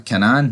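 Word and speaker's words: Kanan: He already does tell Canan, or whatever you pronounce his name, man. Canan, that's it.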